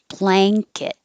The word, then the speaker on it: blanket: about you ensue ensue blanket remember that this in before the k turns into an in-g so instead of an in in the front it's the n-g-n like bang rang sang but kit and it